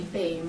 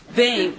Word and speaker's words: Bain: Bain, rhymes with name. Bain, okay.